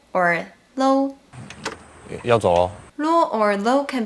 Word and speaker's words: 嘍: Okay, the last one for today is 啰 or low. 要走哦。 Lo or lo can be used to replace the modal particle le, adding a cheerful and relaxed tone. They are the same as le plus o.